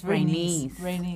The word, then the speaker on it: Rhaenys: court, and then when I always get the name wrong. It's Rhaenys.